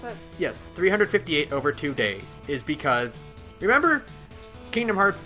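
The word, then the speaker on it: 358/2 Days: 358 over 2 days is that how you pronounce it yes 358 over 2 days is because remember Kingdom Hearts 2 begins with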